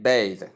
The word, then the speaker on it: bathe: Difference voiceless the as we stated before and voice the the notes the in the first one that is for noun and the in the second one for verb.